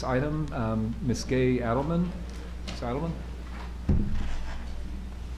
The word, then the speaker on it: Adelmann: Adelmann? You pronounced it right this time.